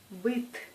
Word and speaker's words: быт: Par exemple, comparez la prononciation des mots быть et быт. Быть, быт. Dans le premier mot, on prononce T douce, comme быть, T. Et dans le deuxième, c'est T. C'est T dur.